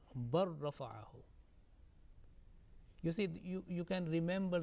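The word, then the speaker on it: بل رفعه: As you can see in the bracket, bal rafa'ahu, and it will be pronounced bar rafa'ahu.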